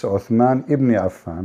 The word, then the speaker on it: Uthman ibn Affan: Cairo You know, she said the name wrong. It's Uthman ibn Affan, but it's okay.